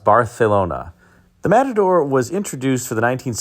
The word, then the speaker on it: Barcelona: the AMC Matador Barcelona, or as it's correctly pronounced, Barcelona.